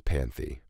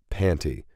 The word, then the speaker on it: Panty: This is Panthy. Or, no wait, how do you say it? Panty. They shortened Panther to Panty.